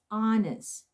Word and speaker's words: honest: this set journalist teresa this one is silent 8 so you pronounce this honest okay honest yes okay